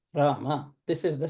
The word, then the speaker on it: Rama: So, ardhamatrika repha, dirgha anudata, dvimatra kala, akara, anumatrika virama, because Ra syllable is over. And then ardhamatrika, makara, udata, ekamatrika, akara, ekamatrika virama, Rama.